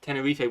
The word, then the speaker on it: Tenerife: That kind of reminds me, because I know we say Tenerife. They say Tenerife. Tenerife, which is the correct way to say it. Yeah, that's we not say it Tenerife.